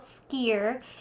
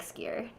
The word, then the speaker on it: skyr: Iceland is cool because they have something called skyr.